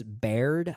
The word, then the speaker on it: Baird: The film was directed by John S. Baird, I believe is how you pronounce his last name.